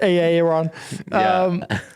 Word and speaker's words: Aaron: Aaron B. Rhymes with Baron. And last name starts with a B. I believe it's pronounced Aaron.